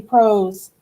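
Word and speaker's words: ProZ: They're going to spell it a little different. P-R-O-Z, Pros.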